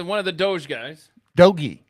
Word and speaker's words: DOGE: of the Doge guys dogy it's not Doge doge is crypto doy is the Department of Government hard G efficiency hard e dogy but doge is the